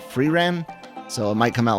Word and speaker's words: Frieren: new reaction series uh I've been told to pronounce this freeram so it might come